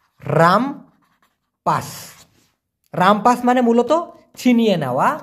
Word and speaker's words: rampas: RAMPAS, উচ্চারণটা হবে রামপাস।